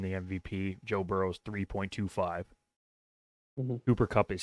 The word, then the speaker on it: Cooper Kupp: Cooper Kupp.